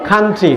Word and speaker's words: country: তোমরা কান্ট্রি সম্পূর্ণ ভুল উচ্চারণ যাবে খান্ট্রি। বলো আমার সঙ্গে বলো খান্ট্রি খান্ট্রি খান্ট্রি।